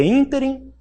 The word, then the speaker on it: ínterim: Por exemplo, é ínterim ou é interim? De acordo com a gramática. Qual que é a pronúncia?